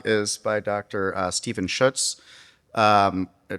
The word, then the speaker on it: Schuetz: uh Steven Schutz. Um he's told tells me it rhymes with Tootsz.